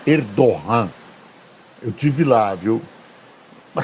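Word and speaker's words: Erdoğan: é um presidente autoritário escreve erdogan mas a pronúncia é erdogan eu tive lá viu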